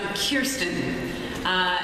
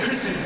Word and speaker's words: Kirsten: It's You look at it and you want to say Kirsten.